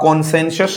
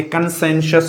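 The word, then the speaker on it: consensus: तो ये थोड़ा सा कई बार, जैसे यहीं पर एक वर्ड आप लोगों ने देखा दोस्तों, इसको आप कॉन्सेंसस नहीं बोलेंगे, कंसेंसस बोलेंगे, सहमति जो होती है।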